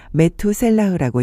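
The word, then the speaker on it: מתושלח: 무두셀라. 히브리어로는 메투셀라흐라고 읽습니다.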